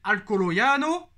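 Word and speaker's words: Alcoyano: équipe de 3e division qui s'appelle alcoolo yano c'est comme ça que ça se prononce et c'est là bas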